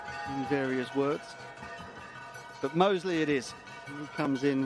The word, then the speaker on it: Mousley: him and he said I asked him if the pronunciation of his name is mousley he said who's that my name is Mosley well the English language